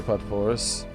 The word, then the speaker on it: potpourri: Do not spell a word P-O-T-P-O-U-R-R-I and say it's pronounced potpourri.